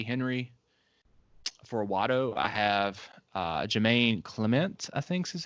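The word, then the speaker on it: Jemaine Clement: For Watto, I have Jermaine Clement, I think is how you pronounce his name, who also has worked with Taika on What We Do in the Shadows.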